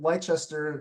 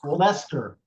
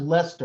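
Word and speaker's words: Leicester: attend the city of leester if I'm pronouncing that correctly boys Lester it's pronounced Lester it's not leester no Lester okay is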